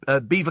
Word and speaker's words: Belvoir: said what I do like Beaver Castle it's spelled Belvoir and they do elderflower